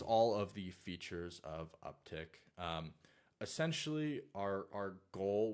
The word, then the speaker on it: UpTk: rebranded to upk doio it's still pronounced uptick um thank you very